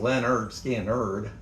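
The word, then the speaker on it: Lynyrd Skynyrd: Pronounced Leonard Skannard.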